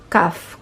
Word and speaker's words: כ: sa ating whiteboard okay and it sounds like ka pero ang letter po na ito ay may dalawang paraan kung Paano bigkasin kapag ang CF ay may tuldok sa gitna na tinatawag na ito po the gesh Okay ito ay nagpapahiwatig na ang titik ay dapat na binibigkas sa kanyang matigas na tunog ka Okay po kapag walang tuldok ang pagbikas ay ha na katulad ng pagbigkas sa letter het ito ay medyo nakakalito